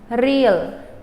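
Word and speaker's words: រៀល: and it's pronounced re real your accent is on the first syllable real real all right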